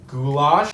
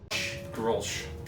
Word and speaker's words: Grolsch: Goulash. How about new, you crazy Dutch bastard? Grolsch. Oh, Grolsch. Grolsch. Is that how it's pronounced? I thought Yeah. it was goulash.